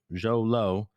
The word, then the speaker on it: Xolo: Xolo. Zolo.